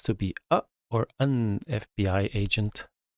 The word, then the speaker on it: FBI: Sven wants to be a or an FBI agent. F, spelled with a consonant, but pronounced with a vowel, F.